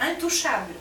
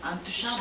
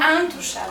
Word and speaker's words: Intouchable: Untouchable. Ah, c'est la production américaine? Non, français. Français, Intouchable. Untouchable. Ah, il faut bien prononcer. Parce que c'est pour ça que je parle. En plus un. Intouchable.